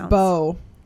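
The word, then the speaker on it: Beau: members, I think it's Bay is how you would pronounce it, or Bew. I'm not really sure. It's one of those words that I'm probably going to mispronounce. I think it's Bo.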